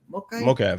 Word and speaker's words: Mokaev: Mokaev, I think that's how you pronounce it. Mokaev, yeah.